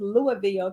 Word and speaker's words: Louisville: I used to call it something else, but they said it's pronounced Louisville, Kentucky, where 5,000 of us were gathered on